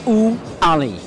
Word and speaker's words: Ouali: Now, you're the one who taught me how to say that. Am I saying it right? Well, that's because he taught me how to say it. It's Ouali.